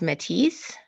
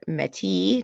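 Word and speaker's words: Métis: is Sherry dimaline and she is Matisse or mati depending on if you're using the French or English pronunciation but she's won multiple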